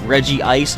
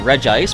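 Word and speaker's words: Regice: Regirock Reggie is Reggie Steele by the way Reggie Ice is how it's pronounced and a lot of people call it reg ice but why is it not called reg rock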